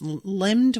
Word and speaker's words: limned: It was more a hedge-shaped thing of darkness, limbed with red fire that fought against the gold. I hope I'm saying limbed right. It's spelled Limned, and it's one of those words